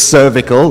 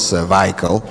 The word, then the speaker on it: cervical: It's cervical, not cervical.